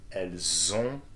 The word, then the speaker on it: elles ont: Elles ont, that's correct, the the sound and the nasal sound, okay. Zon, elles ont.